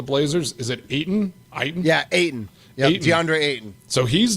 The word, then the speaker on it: Ayton: And just like that, I don't know how you pronounce his name for the Blazers. Is it Ayton? Yeah, Ayton.